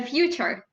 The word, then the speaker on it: Futur: The future. Yeah, but it's spelled without an E, so it's the Futur.